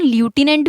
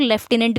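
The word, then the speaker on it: lieutenant: One more thing यहाँ मैं clear कर दूँ, ये जो लेफ्टिनेंट है इसकी प्रोनाउंसिएशन ल्यूटिनेंट भी होती है और लेफ्टिनेंट भी होती है। देखिए, जो लेफ्टिनेंट है वो हम बोलते हैं इंग्लैंड वाली इंग्लिश में, ओके। और जो लेफ्टिनेंट है, जो ल्यूटिनेंट बोलते हैं, वो बोलते हैं अमेरिका वाली इंग्लिश में, ओके।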